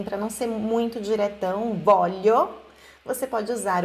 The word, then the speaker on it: voglio: o lei Vuole, atenção, olha esse voglio aqui, não se pronuncia o GL, então é voglio, como se fosse o som do nosso LH em português. Aí eu voglio, não é voglio, ok?